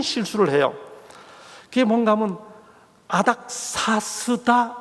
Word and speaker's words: 아닥사스다: 그게 뭔가 하면 아닥사스다 몇 년이라고 성경에 되어 있는데, 그 아닥사스다에 기초한 소위 예언 해석에 대해 반론을 제기하면서 이분이 계속해서 뭐라고 발음하시는가 하면 아다닥스다라고 발음합니다.